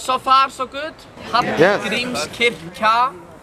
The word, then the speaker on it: Hallgrímskirkja: Hallgrímskirkja. Who wants to try the pronunciation? Say it again? Hallgrímskirkja. It's like a TL sound. Hallgrímskirkja.